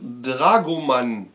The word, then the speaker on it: Dragoman: Dragoman ist keine Actionfigur, sondern es wird Dragoman ausgesprochen und bezeichnet im Nahen Osten den Beruf des Dolmetschers.